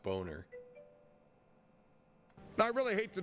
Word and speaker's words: Boehner: He insists that his name is Boner. It's like, it's German. His last name is Boner. He's lying to us. It's John Boner.